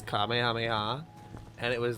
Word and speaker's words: Kamehameha: The came ahamahai. It was really funny. Yeah, you can just look up clips of streamers mispronouncing, Fortnite streamers mispronouncing Kamehameha.